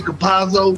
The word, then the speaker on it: Campazzo: Campazzo, yes.